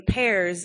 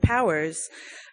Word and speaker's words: Powers: So coming from parents who pronounced our last name Pears instead of Powers, I was always a little different, Yeah.